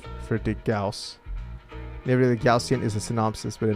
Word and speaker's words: Gaussian: How do we say that pronounce Gaussian? Gaussian. Gaussian. Gaussian. Gausian. Gaussian. Man, I've been saying it wrong for a really long time. I've been saying Gaussian. Goshion for a really long ass time.